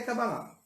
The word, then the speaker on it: cabalá: Pronúncia certa é cabalá.